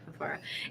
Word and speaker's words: Fafara: Is that how you pronounce his last name? Yeah, Fafara.